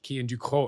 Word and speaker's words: Cian Ducrot: Do you know, uh, well actually you can now go around and be like, Kean Duco.